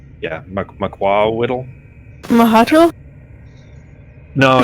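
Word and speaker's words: macuahuitl: It's pronounced Makwawiddle. Yeah, Makwawiddle. Mahato? No, Or it's something? No. It's actually MAK. Like it's an MAK sound. It's a weird sound.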